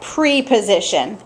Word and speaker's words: preposition: had says pre but this does not get pronounced like pre-position it is called preposition so some of the